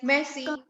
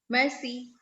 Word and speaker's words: merci: It said like merci, merci, like that.